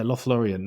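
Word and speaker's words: Lothlórien: moved up and i don't know if i pronounced this correctly but lothlorien is it yeah lost lorien yeah lothlorien and that looked like a really special kind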